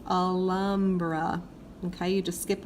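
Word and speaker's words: Alhambra: they are pronounced differently the H is always silent ignore it pretend like it's not even there just go straight to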